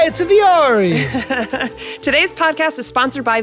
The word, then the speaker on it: Vuori: Why is it pronounced Viore? Yeah, because like look at the letters. Like we're Viore. I'm not seeing an E in there at all.